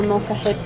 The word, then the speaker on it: molcajete: So food, our molcajete is a very popular one.